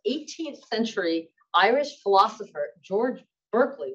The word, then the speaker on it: Berkeley: century irish philosopher george berkeley which is actually traditionally pronounced barkley who was the inventor